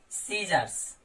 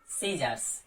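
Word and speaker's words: scissors: सीजर्स, सीजर्स, तो यहां भी हमारा सी लेटर साइलेंट है।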